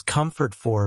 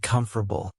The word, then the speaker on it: comfortable: The first time I tried to say comfortable naturally, it came out as comfort for because I was pronouncing every single syllable the way I saw it spelled. But after hearing Americans say it more like comfortable, I practiced until it